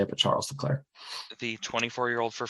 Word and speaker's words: Leclerc: say it but Charles declare the 24 year old for Ferrari Charles Leclair is correct nice job for this